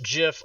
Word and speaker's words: GIF: he he even said it's pronounced jiff like the peanut butter he even said that